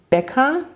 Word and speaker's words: Becker: dieses er über betonen und becker kurz se das liegt daran weil es dort das ck gibt im deutschen mit